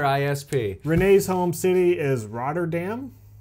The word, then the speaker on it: Rotterdam: renee's home city is rotterdam roger dumb it's dutch rider dumb hey we write her